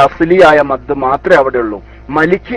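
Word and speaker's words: مَالِكِ: ഓതി വരുന്ന ഓത്തനുസരിച്ച് ഓതുമ്പോൾ മാലിക്കി എന്നുള്ളൂ. മാലിക് യൗമിദ്ദീൻ എന്ന് പറഞ്ഞാൽ അത് പൊച്ച തെറ്റായി. മാലിക്കി എന്നതിൽ മുത്തസിലില്ല, മുംഫസിലില്ല, ലാസിമില്ല, ആരിലില്ല, ലീനില്ല. ഒരു മദ്ദുല്ല, അസ്ലിയായ മദ് മാത്രമേ അവിടെ ഉള്ളൂ. മലിക്കി അല്ല മാലിക്കി, അത്രമാത്രം.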